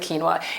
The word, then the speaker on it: quinoa: It's not, it doesn't sound the way it's spelled, and people don't really have an easy time finding it, but please get familiar with quinoa.